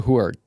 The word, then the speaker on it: Huard: Today our guests are Annabelle Jackson, a competitive swimmer, and Titans coach Huard. Did I pronounce that right?